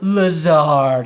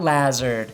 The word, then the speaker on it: Lazard: Thanks for correcting me and letting me know it's pronounced Lazard and not Lazard.